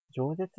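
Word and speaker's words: 饒舌: なんて読むんだこれ。ちょっと待ってくださいね。重いな。何舌って読むんだそれ。饒舌ですね。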